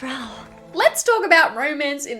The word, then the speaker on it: Raoul: It's Raoul.